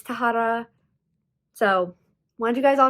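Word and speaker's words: Tahereh: name was an f which made me pronounce it taphra but that is not correct it's tahara so want you guys all to know i'm pronouncing it wrong but you pronounce it tahara so there's the correction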